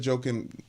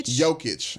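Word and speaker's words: Jokić: don't care how good joking joking is how you say his name okay joke it I don't care how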